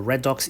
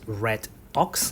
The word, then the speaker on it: redox: English you need to pronounce it properly, you pronounce it as redox, okay? Even though it is short for reduction, red, and then ox, but you pronounce it as redox instead of red ox.